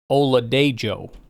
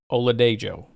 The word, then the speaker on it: Oladejo: But it is pronounced Oluwafemi Oladejo. Apparently you pronounce the J. I don't know. Oluwafemi Oladejo.